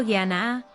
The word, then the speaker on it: Jnana: Mientras que Jnana, pronunciado Jnana, significa conocimiento o sabiduría.